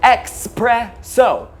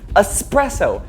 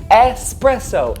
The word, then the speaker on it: espresso: There is no X in this word, so stop pronouncing it Expresso.